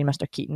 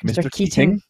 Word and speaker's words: Keating: which is funny because in a scottish accent we all could say mr keaton mr keaton right but they really pronounce it it's like mr keating yeah robin williams man